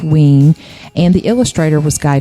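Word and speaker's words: Wein: wean it's spelled we i n but it's pronounced wing and the illustrator was Guy Davis right and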